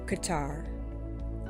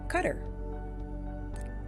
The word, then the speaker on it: Qatar: record card number seven Qatar also pronounce cutter teaching in Qatar allows